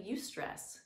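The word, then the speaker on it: eustress: stress the term for good stress is actually you stress it's spelled EU STR ESS a term coined by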